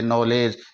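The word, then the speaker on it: knowledge: है वो साइलेंट हो जाएगा नॉलेज इसका हम उच्चारण करेंगे नॉलेज इसको हम सीधा सा पढ़ेंगे एन ओ डब्लू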